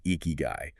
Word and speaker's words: ikigai: You pronounce it eeky guy.